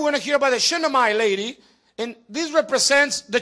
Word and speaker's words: Shunammite: In Second Book of Kings, chapter 4, there's a story over there about a woman called the Shunammite lady.